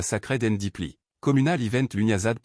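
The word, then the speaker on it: Lughnasadh: August marked a sacred and deeply communal event Lugnasad pronounced Lunazar the Celtic festival honoring Lugh the god of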